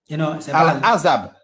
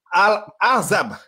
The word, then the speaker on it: Al-Ahzab: Al-Azab. Al-Hazab. C'est comme ça qu'on prononce ça.